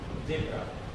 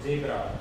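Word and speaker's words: zebra: जैसे ये है, इसको अपन पढ़ेंगे जेब्रा। कुछ लोग पढ़ते हैं इसको जेब्रा, बट इट्स नॉट जा। ये जा नहीं है, ये जा है, जा, जेब्रा।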